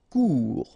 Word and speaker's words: court: Court, final T not pronounced, court. Remember, when you combine this O and U together, you get the sound OU, court.